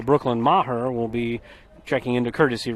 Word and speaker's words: Maher: and looks like Brooklyn Maher will be checking into courtesy run I did ask her the other day correct pronunciation and I probably butchering it but she did say Mah okay all right I said